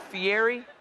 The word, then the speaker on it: Fieri: pronounce the name guy a lot of people call it Fier but the E the r and the i in Italian you roll it Fier why like what is